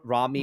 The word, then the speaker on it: Rami: How do you say Rami Rami.